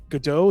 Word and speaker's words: Godot: Godot, is that how you say it? Yeah.